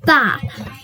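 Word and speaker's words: ب: Now our next letter is Ba. And this Ba, sometimes you can stretch the Ba for 1 second if it has a line on top of it.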